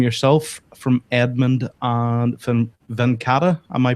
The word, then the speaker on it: Venkata: This is obviously the product image, and it's from yourself, from Edmund, and from Venkata. Am I pronouncing that correctly?